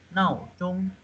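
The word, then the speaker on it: 闹钟: Ini bacanya ada 4 sama 1. 闹钟, 闹钟.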